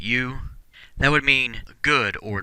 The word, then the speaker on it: eu: And our last prefix here, EU, is pronounced U.